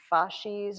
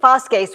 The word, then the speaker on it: fasces: I'm sure you probably say fasces or something like that in English, but fasces would be classical pronunciation Latin.